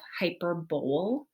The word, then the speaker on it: hyperbole: of think to yourself hyperbole but it's hyperbole the emphasis is on the per hyperbole it's kind of similar